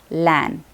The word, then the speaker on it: LAN: example of an acronym is lan lan we pronounce it as lan we don't have to put an lan because